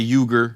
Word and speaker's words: Uyghur: Uyghur is how you're supposed to say it. It's a Turkish word, right? Yeah, it is. They're Turkic. Yeah. Yeah. You say yogurt? I just Americanize it and say Uyghur.